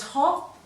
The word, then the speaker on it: hope: Does it make a short vowel? No, the E is making that vowel make a long sound.